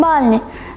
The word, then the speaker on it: Балі: погнали в першу чергу розповів що всупереч поширений серед наших туристів вимові на голодослові балі ставиться на перший склад а не на останні продовжимо тримаючи цю інформацію